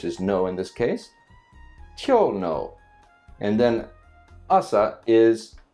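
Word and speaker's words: 今日: The pronunciation kyou kyou starts off higher and pitch again. Think of it if it's do re, it would be re kyou kyou. And then it stays low with the particle, which is no in this case kyou no.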